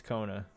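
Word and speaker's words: Kkona: Double K O N A. What was the first K? What was that for? Yeah, well, if you need to know, you'll know. As silent as he is.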